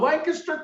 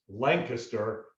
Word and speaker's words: Lancaster: It doesn't, but what it does do is it creates connections with, oh, Lancaster County, look at that. You know, and by the way, it's pronounced Lancaster, not Lancaster.